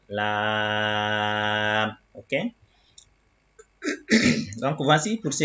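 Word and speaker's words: لام: Donc, par exemple, ici, Lam contient une syllabe longue. On va dire Lam.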